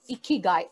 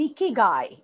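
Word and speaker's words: 生き甲斐: Japanese language there is a word called इिकगाई इकी गाय आई के आई जी ए I that's a spelling इकी गाय इगाय actually means value of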